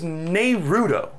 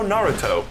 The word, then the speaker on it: Naruto: that I never understood the mispronunciation that I just it baffles me is Nudo there will be people who have watched like hundreds of episodes of the show Naruto where spoiler alert they say his name out loud a lot and people still come out of that thinking it's Nudo like literally how did